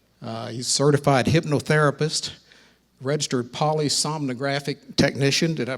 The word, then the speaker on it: polysomnographic: He's a certified hypnotherapist, registered polysomnographic technician. Did I pronounce that right?